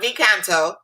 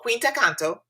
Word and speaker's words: Quinta Canto: this is quinta canto it's not v kanto it's called quinta canto i got the corrected pronunciation quinta brand and guys